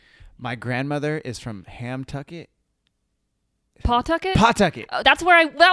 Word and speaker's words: Pawtucket: So it's spelled Pawtucket, Pawtucket, but you know someone's not from Rhode Island when they say Pawtucket because it's Pawtucket.